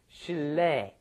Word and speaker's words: 실례: Anyway, and notice the pronunciation here. It looks like it should be 실례, which is almost impossible to pronounce, isn't it? Yeah. How do you say 실례? Because the vowel is yeah. But what happens is, of course, it just ends up being pronounced 실례, 실례, 실례합니다, 실례입니다. Right.